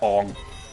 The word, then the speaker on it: Aang: Who's Aang? Aang? Oh yeah, my bad. I forgot. It's a Ong.